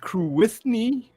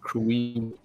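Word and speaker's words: Cruithne: It was first called Crewithny, and then they figured out they mispronounced it. It's Crewini.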